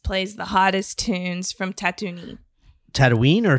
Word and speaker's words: Tatooine: bell and just plays the hottest Tunes from Tatooine Tatooine or tattoo knee is it Tatooine what Tatooine I've been they've